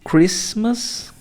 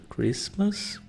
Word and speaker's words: Christmas: Isso é uma regrinha Christmas não pronuncia esse t no meio Christmas easter uma dica para